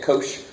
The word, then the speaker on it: cosh: This cosh, which is actually how you say it, cosh, This cosh function is e to the x plus e to the negative x over 2.